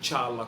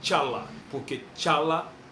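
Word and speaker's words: T'Challa: E a pronúncia é tcha mesmo, não é tiala como foi falado no filme, não. A pronúncia é tchala remete a tchaka, zulu.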